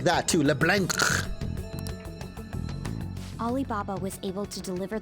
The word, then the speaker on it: Leblanc: It's LeBlanc. You mean he'd have to meet her in person? You gotta say it like that too, LeBlanc.